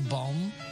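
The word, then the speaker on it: bombe: Or bomb, that's pronounced bomb with an E.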